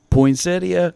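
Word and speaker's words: poinsettia: Poinsedia, I am right. And you're not going to get me to believe otherwise because I know that's exactly how it's supposed to be pronounced.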